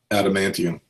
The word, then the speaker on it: adamantium: Yeah, but it was when Magneto had stripped Wolverine of his animation, whatever how you pronounce the word. Adamantium.